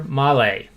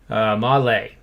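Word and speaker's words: Mahle: go-to reference now so this guy's name is uh tyler male and it's actually lay malay and i looked up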